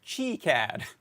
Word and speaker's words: KiCad: So if we were, I'm laughing because in the Discord now a Weisenheimer has said it's pronounced KiCad.